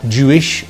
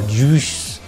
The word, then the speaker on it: juice: the song Juice as Jewish or Juice or something similar. Con Juice di Lizzo, Maria! Remember, when there is a U-I, it's pronounced oo.